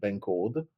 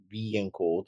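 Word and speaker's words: bencode: started passing something that is called Ben code that b and code sorry pronounce at B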